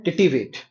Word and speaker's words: titivate: Word है TITIVATE। इसको बोलते हैं टिटिवेट। इसका करेक्ट प्रोनाउंसिएशन होता है।